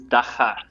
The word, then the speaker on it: Dagga: The pronunciation is Dagga. So it's cleaning you're clearing your throat on the G. Right. Okay. Dagga.